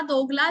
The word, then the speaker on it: Douglas: दोगला, दोगला जेरा, ZERA, कैसे बोलेंगे? दोगला, दोगला जेरा, दोगला, दोगला जेरा, इसमें एस साइलेंट है।